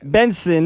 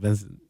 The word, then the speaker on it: BNXN: Benson. Pronounce it Benson.